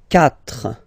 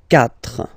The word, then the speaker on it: quatre: So remember that even if you get this u vowel here, basically you don't pronounce it, because that's the rule in French. When we get this q letter and then a vowel after, then we will have to put this u, okay?